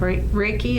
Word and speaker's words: Reiki: that I also noticed was that you have Ricki is that how you pronounce is breaking yes and that you were